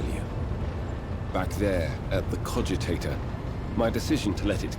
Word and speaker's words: cogitator: Okay, so it's cogitator. That's how you pronounce that.